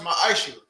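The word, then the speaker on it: ma'aser: It means tenth in the Hebrew, and it's pronounced ma'asher.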